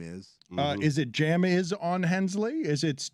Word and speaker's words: Jamison: what that first name is uh is it Jam is on Hensley is it it's j-a-m-i-s-o-n Hensley is that a fine yeah of course who mispronounces Jameson come on ridiculous are you guys ready for